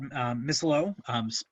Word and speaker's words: Misilo: First up, we have Fred Misilo, pronounced like mistletoe, who is the president of the ARC, the chair of Fletcher Tilton's PC's Trust and Estate Department.